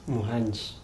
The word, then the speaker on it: Muhangi: Muhangi, who will, is it Muhangi, Muhanji? Muhanji. Muhanji. Yes. Muhangi. What's the difference? Pronunciation. Pronunciation. Yes. But it all ends with GI.